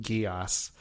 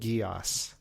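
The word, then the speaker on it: Geass: wrecked me emotionally and that was uh Code Guos.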